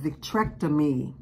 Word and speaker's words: vitrectomy: is called victron tonomy v ah the spelling VI t r e c t o m y I'm not a doctor so I cannot pronounce all these but I did have this